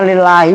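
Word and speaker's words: لله: Lil itu bacanya lillahi, bukan ala kaza.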